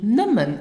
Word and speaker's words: nëmmen: Now listen and repeat after me for the correct pronunciation. Erreicht. And the other one is nimmen.